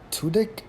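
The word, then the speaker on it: Tudyk: remember Ben Stiller Christine Taylor Justin Long Alan tudik is how you pronounce it Chris Williams Gary Cole Jason Bateman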